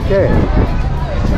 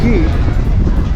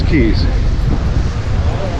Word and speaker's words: Cay: On this side it says Coco K. Although I think it's pronounced key.